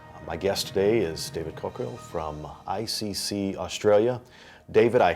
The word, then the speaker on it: Caukill: Caukill. Caukill. Did you get that? It, okay. But, you know, so kind of cork kill. it's like cork on a hill.